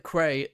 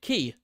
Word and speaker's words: quay: The old mariner at the quay says it's a maroon rope. Sea token, maroon rope, sail, quay. Quay? Key. Sorry, key. That word is pronounced key.